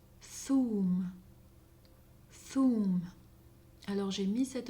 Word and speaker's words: ثوم: ث, ثوم, ثوم. Alors j'ai mis cette lettre en vert pour signifier qu'à Oran, on ne la prononce pas. À Oran, on prononcerait plutôt toum, toum.